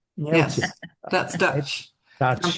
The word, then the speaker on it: Neeltje: And Neeltje, how do you Neeltje. pronounce Neeltje?